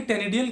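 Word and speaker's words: ctenidial: तो ये देखिए, ये है टेनिडियल एक्सिस, सी यहाँ साइलेंट है इसलिए टेनिडियल एक्सिस।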